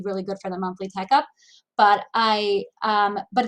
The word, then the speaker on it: Tech Up: call it the monthly tech up because it's like rhymes with checkup um so like each